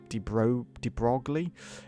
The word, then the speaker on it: de Broglie: The work on the French scientist de Broglie, that's how you pronounce that, de Broglie, has greatly inspired my research.